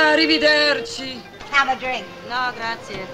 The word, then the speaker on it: arrivederci: How do you pronounce that? Arrivederci.